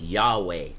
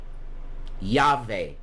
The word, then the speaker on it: Yahweh: my initials are y w e which you pronounce that out it's Yahweh yve mhm Amanda Breck said to me I don't